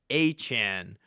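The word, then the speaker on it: Etienne: My whole life I thought it was Travis ETN. No, it is actually Travis Achan. Uh, so I guess pronounced the same way as Devon Achan.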